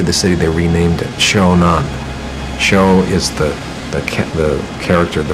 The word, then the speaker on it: Shonan: When they captured the city, they renamed it Shonan. Sho is the character, the first syllable for the first part of the emperor's formal name, Showa.